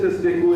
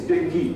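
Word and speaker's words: dengue: important Malia the other is Deni we don't pronounce it ASU anymore it's Deni at least health professional should get the professional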